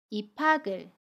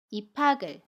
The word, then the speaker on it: 입학을: 받침 기역 뒤에 모음이 오면 그 받침은 모음 자리로 이동해서 발음해요. 연음이라고 합니다. 그래서 입학을 이라고 발음해요. 입학을.